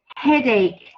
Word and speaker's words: headache: this this word is headache headache and we don't pronounce the CH spelling we rather say headache like the K Spelling have a look in